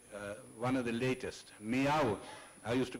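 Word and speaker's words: Millau: this is the uh one of the latest meow I used to call it mil till I was corrected it's pronounced I'm told as me Viaduct this is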